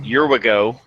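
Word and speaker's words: Wherigo: not super modern either is your we go that's at least how I pronounce it right yeah because there's a W in there so it's not your idea yeah dot cz is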